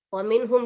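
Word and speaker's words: وَمِنْهُمْ: Wa minhum di sini ada nun sukun bertemu dengan huruf H. Minhum. Jadi kita di sini tidak boleh berdengung. Kenapa nun mati bertemu H? Itu hurufnya izhar khalqi. Jadi harus jelas bunyi nun matinya. Wa minhum. Kemudian tidak boleh dipanjangkan, tidak boleh didengungkan. Ya kita tidak boleh berlagu-lagu di sini dan berlama-lama. Wa minhum. Tidak boleh. Jadi langsung dibaca sekilas. Wa minhum ummiyuna.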